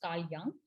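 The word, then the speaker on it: Carl Jung: back so we had carl young yes it's pronounced as uh it's written as jung but it's pronounced as carl young so what he did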